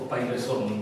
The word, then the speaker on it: Pareyson: La dottoressa Coriasso ha tradotto Luigi Paireson, o Paireson, perché pare che questa sia la pronuncia esatta, trattandosi di un nostro